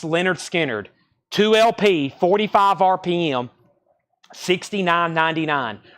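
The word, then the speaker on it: Lynyrd Skynyrd: is probably my favorite album from analog Productions pronounce Leonard skinnard 2lp 45 RPM 69.99 pronounced lard skinnard I'm telling you it's the best version ever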